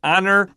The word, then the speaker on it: honor: Explosion I guess so be careful with the word honor I have heard people say honor I I agree I didn't like it I have heard it I I put it on my own paper above honor the h i cross out the H I always would tell